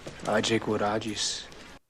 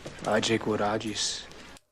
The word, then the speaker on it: age quod agis: Age quod agis.